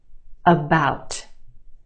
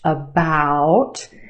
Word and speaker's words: about: About. Okay, we have two syllables in that word. The second syllable is emphasized or stressed. The ow sound is stretched, about. The first syllable is your schwa, about.